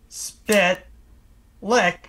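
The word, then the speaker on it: Mxyzptlk: eat it all right they actually tell you how to pronounce in the episode yes yes spit lick and you guys say it as one word like the same way a New Yorker would order a bacon egg and cheese it's all one word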